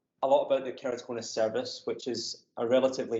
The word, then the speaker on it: keratoconus: and they all said not all most said kerry katona so i mean i had to google who